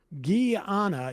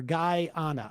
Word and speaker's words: Guyana: Sam, call me a pendant, but Guyana is pronounced Guyana, just like it's spelled, or alternatively like Guy Island or Guyana.